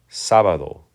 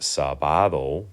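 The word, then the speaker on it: sábado: you might think of the word Saturday right sabado right normally without an accent it would be pronounced sabado because it ends with a vowel so it's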